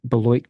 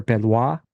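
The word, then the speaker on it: Beloit: he got his bachelor's also in philosophy at belloit college or belois what's the pronunciation here Belo beloy okay gotcha yeah his area of specialization is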